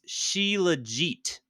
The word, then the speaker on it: Shilajit: we asked Google and according to Google it's sheit like T legit sheit sh she sheit